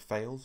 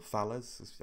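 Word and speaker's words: Thales: Now, Babcock have partnered with Fales, or Fales, I think it's the French pronunciation, to produce the Arrowhead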